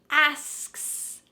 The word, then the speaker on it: asks: Asks. Asks. Don't you see how this could be weird? Let's slow it down. Asks. Let's focus on just the last two letters, KS. KS.